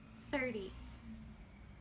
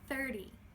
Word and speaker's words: thirty: Thirty. Thirty. No N sound.